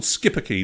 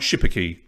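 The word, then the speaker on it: Schipperke: skipper key thanks jen it's called skippaki not shipperkey thanks i'll never mispronounce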